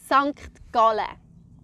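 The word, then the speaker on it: Sankt Gallen: I would pronounce it Sankt Galle.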